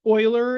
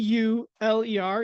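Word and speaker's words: Euler: sets in this in this week uh using oiler and vin diagrams along with set notation and terms. So, as a note, um that name U E U L E R is pronounced Oiler.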